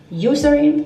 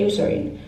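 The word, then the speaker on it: Eucerin: it second layer is this urine not urin um userin I'm going to say userin if you pronounce wrong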